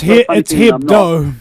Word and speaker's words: Hebdo: the attack against the guys who did Charlie Hebdo. Charlie, am I pronouncing it correctly? It's Hebdo.